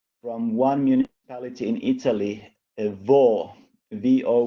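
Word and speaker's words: Vo': One is there is a study which I think is now published from one municipality in Italy, VO with the accent on the O, where they did comprehensive PCR testing repeatedly in the population.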